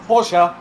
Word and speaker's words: Porsche: It's pronounced Porsche.